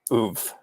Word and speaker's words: oeuvre: And then tell us about the next project in the Tolan oeuvre. Oeuvre, please, Larry. Oeuvre. Second syllable.